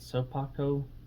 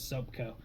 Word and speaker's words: Sopakco: how to pronounce that soap Paco is how you say it I thought it was soap Co I didn't realize that there's an AK there we'll say soap Co